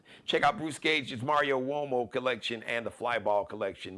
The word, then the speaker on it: Uomo: Check out Bruce Gage's Mario Uomo collection and the Flyball collection. Mario Uomo.